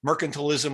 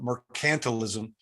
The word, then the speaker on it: mercantilism: mercantilist it you know that term is is pronounced two different ways mercantilism or mercantilism but the idea it's